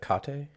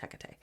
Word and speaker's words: Hecate: do you know who Hecate is isn't it hakate no no then no it's probably the same person but it's pronounced Hecate so she's a goddess in ancient Greek religion